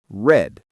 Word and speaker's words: read: The word read is the same spelling but different sound. In the past tense, it is pronounced read. So, I read a book yesterday.